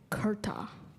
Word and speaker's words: kurta: that again kurta am i saying it correctly kurta yes could i have the definition a loose